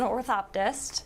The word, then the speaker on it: orthoptist: was working on how to pronounce it today pronounce it and tell us what it is so it's an orthoptist it's okay no one knows what it is